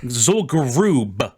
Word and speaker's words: Zul'Gurub: Zul'Gurub with a B on the end. How do you spell that's that?